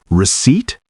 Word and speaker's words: receipt: their meanings and pronunciations: receipt and recipe. A receipt is proof that you've paid for something. The P is completely silent. Receipt. 2 syllables, stress on the second.